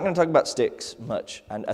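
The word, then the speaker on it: stichs: For instance, Psalm 54, 1-2 has 2 lines with 4 sticks. Hebrew poetry was divided into lines, and each line broken into 2 or more parts, which are called sticks. It's S-T-I-C-H. It's pronounced S-T-I-C-K-S.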